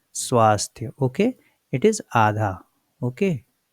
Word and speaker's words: स्वास्थ्य: But what we have, what is written here, swa. When it is written swa, then you have to put adha sa.